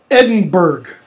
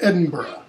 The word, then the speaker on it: Edinburgh: Australian comes from British English pronunciation you know Americans say things like Eddie Burke it's Edinburgh they say things like werejust or shirk its